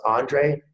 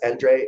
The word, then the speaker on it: Endre: And I couldn't be more happy to introduce Endre, and it's pronounced Andre if you're in the US, Endre if you're in Europe.